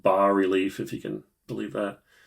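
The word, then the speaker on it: bas-relief: it's called, it's pronounced ba relief, if you can believe that. Uh I was always pronouncing it bass relief, which I think is pretty legit.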